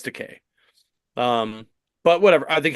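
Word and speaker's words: Takei: always says it because he says something like it rhymes with gay like oh okay yeah so it's teay um but whatever I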